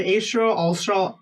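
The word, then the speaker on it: Alfstrahl: an F in there f is silent I was like I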